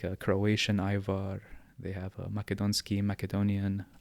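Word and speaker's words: Ajvar: with a thing called Ivar iar Ivar A J because the J is pronounced like a y in the Balkans v a r Ivar okay and that's a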